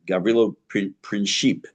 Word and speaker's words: Gavrilo Princip: And I realized I was pronouncing his name wrong. The assassin, Gavrilo Princip. I've been saying Princip all these years, but Gavrilo Princip, who will be murdering